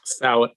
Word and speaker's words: Salit: How do you pronounce the last name, Eric? Salit.